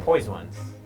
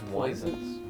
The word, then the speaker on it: PoisOnes: Like, poise We'll get to poised ones. numeral one can or we poise circle back to the spell it waivers out? though, real quick? Poised ones. Why wouldn't you just say like poisons?